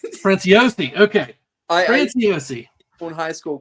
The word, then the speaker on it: Franciosi: Was it Francioni? How do you pronounce your last name? Franciosi. Franciosi.